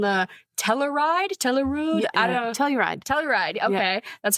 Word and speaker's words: Telluride: Telluride, okay.